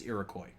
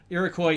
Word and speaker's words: Iroquois: first nation but uh the pronunciation i've always heard here in the midwest is iroquois so if that helps in it i make to look at all and for gold iroquois is at least the